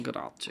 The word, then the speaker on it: Goralczyk: Goralczyk.